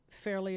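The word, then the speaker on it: Fairly: Fairley is spelled L-Y-N. Fairley, just as it sounds, F-A-I-R-L-Y.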